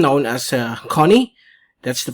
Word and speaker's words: Goni: it has already an international name known as connie that's the pronunciation of actually it's connie that's the korean name for swan okay so